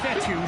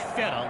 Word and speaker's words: Fetu: So, Coach Fetu spelled F E TU for the longest time. I was pronouncing in coach Feta like feta cheese.